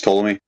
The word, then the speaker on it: Ptolemy: Yeah, Claudius Ptolemy. Ptolemy. Yeah. Ptolemy. I think the P is silent, right?